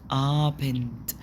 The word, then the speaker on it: Abend: وفي جوتن ابند، جوتن ابند، ما بنقولش ابند د، لا الدي في الاخر بتتنطق تي. تمام.